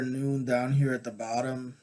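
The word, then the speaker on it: Nun: pronounced noon means fish the correspondences again appear to follow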